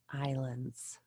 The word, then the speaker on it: island: has more than 300 islands that words island so the ass is silent on one of those